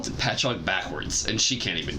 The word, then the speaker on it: Patchogue: No, it's called Patchog.